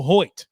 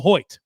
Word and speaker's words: Hoecht: with the newest addition to the team Michael Hoy and folks that is how you say the